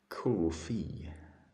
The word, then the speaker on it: Ko-fi: How am I pronouncing coffee? Coffee. Speaking of beverages, they're not on my wish list. No. Speaking of beverages, you have another package to send me. Okay. Ko-fi. Is that how you pronounce it?